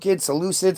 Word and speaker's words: Seleucid: So eventually they built up a big enough army that they attacked the Seleucid Empire. That was who was Seleucids.